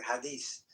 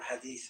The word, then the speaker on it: hadith: Books actually they are the hadith or hadith, however you want to pronounce it, with a th at the end.